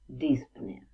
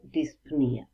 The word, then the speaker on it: dyspnea: И медицинский термин или technical term это dyspnea или dyspnea. Два варианта произношения возможны.